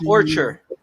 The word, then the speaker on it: ORTUR: How do you pronounce that? Orchard.